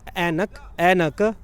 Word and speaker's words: Ainak: 3 syllables है, एनक. तो बड़ा आसान भी है, लोग भी बोल लेते हैं. फिनिश लोग इसको आइनक बुलाते हैं. और हमने ये भी देखा जर्मनी में लोग आइनक बुलाएंगे अगर हम वैसे लिख देंगे स्पेलिंग, AINAK.